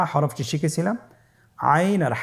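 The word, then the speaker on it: عين: আইন হরফটি উচ্চারণের সময় অবশ্যই 3 আলিফ টেনে পড়তে হবে এবং আইন হরফটি বারিক হরফ, পাতলা করে পড়তে হবে। আপনারা আমার সাথে বলুন আইন। আবার বলুন আইন।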